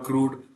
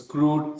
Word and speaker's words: CRUD: the cred crud or crude okay some people pronounce as crude some people pronounce as